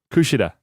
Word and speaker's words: Kushida: Kushida. Okay. Yeah. That's how they say it.